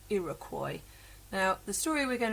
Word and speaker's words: Iroquois: It's a strange word, but that is the pronounced Iroquois.